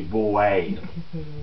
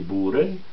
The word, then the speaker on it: Boer: En réalité, il apparaît quand il y a la guerre qu'on appelle ici des Boers, qui est la guerre des Boers, en hollandais, O-E, ça se prononce Pou.